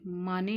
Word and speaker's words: Manet: जो य आर्टिस्ट है यह माने लिखा जाता है पर इनको बुलाते माने सेही है ठीक है साइलेंट रहता है इसमें तो अपने अंतिम